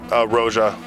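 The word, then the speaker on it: Roja: I think about things like um Roa or Raja, sorry, I'm not going to pronounce it wrong like everyone else. It's Raja, like a like a British person saying Roger.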